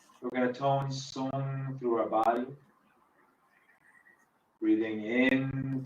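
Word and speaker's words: soong: The sound is spelled S-O-O-N-G. It's pronounced song.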